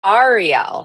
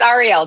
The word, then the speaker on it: Ariel: And actually, it's pronounced Ariel. So a lot of people think Ariel is Little Mermaid, but no, but it's Ariel. Just think like the three letters REL. Just makes it easier.